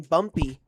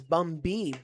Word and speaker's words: Bumby: So it's actually on your screen, Bumpy. I think someone misheard him pronounce his name because on his Instagram, it's Bumby, B-U-M-B-Y, like a bumblebee.